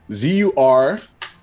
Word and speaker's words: Zurlebun: Wait, how do you spell it? Zurlebun. Okay. I was way off. One more time for me, please. Sure. Zurlebun.